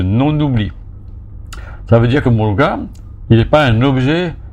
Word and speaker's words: Muruga: Donc, un peu comme Muruga, beaucoup de gens prononcent Muluga, c'est comme s'il y avait un L.